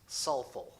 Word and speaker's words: Southwell: Chesterton St Robert suul written southwell but pronounced suul sir St Robert suul